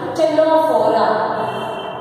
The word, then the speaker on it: Ctenophora: Here C is silent. Phylum Ctenophora.